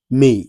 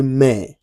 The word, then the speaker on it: mère: A So, you don't say may. You say mère. Mère is your mother. Your mother means mère. So, you say mère. Like you want to say mère.